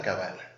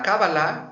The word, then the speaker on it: cábala: decir qué es la cabala bueno la la cábala o cabala como en hebreo se pronuncia es una tradición muy